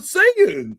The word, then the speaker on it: Saiyan: No, we call it Saiyan.